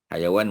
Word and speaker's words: hayawan: Hayawan mana haiwan lah. Kita Melayu panggil haiwan, Arab panggil hayawan, ya, bukan hai tapi hayawan, iaitu ejaan dia, ha ya waw alif nun, ya.